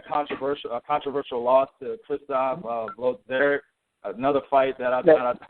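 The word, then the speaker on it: Włodarczyk: You had a controversial loss to Christoph Blodzerik. Another fight that I thought you won. Yeah. I mean, exactly. Ledarchik, that's his name. Yeah, exactly. Yeah, I don't be pronouncing that name right at all.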